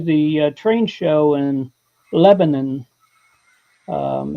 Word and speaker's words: Lebanon: No, Lebanon. Two syllables. It's not Lebanon. It's not Lebanon. It's Lebanon.